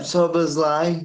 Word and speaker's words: Szoboszlai: Dominic Szoboszlai, is that how you pronounce his name? Yeah, Szoboszlai, yeah.